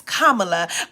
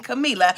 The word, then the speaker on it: Kamala: Her name is Kamala. Only in reference to a person named Camila should you ever be saying Camila.